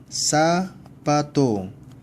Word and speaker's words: zapato: 세타는 S 발음. TH 번데기 발음과 S 발음이 함께 나타나야 되지만 상당히 어려워요. 그러니까 좀 더 편하게, 아직은 우리는 초급이기 때문에 좀 더 편하게 S 발음을 하게 되면 sorrow, sorrow 라고 발음이 나오겠죠? zapato, 사빠또.